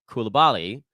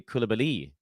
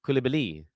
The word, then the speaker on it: Coulibaly: So it actually Coulibaly. Bilal Coulibaly is the correct pronunciation of his last name.